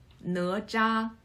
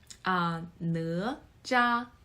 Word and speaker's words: Nezha: So Nezha, pronounced as Nezha. It's kind of difficult to pronounce, I know. Nezha.